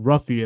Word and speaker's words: Ruffy: One of your friends and teammates, maybe Mauricio Ruffy, if I'm not mistaken to pronounce the Yep. last name. Mauricio, But Mauricio Mauricio Hufi. Hoofy.